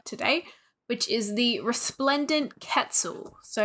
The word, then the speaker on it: quetzal: amazing sounding bird called the resplendent Quetzal it just sounded so impressive and it also rhymed with pretzel which you know I